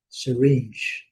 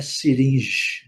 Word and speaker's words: syringe: O que importa aqui é syringe, certo? Lembrando, não é siringe, não é siringe.